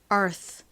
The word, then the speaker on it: Earth: 단어의 끝에 오면 맥을 못 쳐요 굉장히 야하게 발음이납니다 그래서 Earth Earth 이렇게 바람이 슉 빠지는 소리가 나다 보니